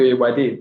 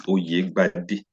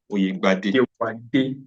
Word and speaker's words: Oyegbade: I got the Ewade, Ewade. How did I get it? Did I get it well? Punish you. I will not punish you for wrong pronunciation. My name is Oyegbade. Oyegbade.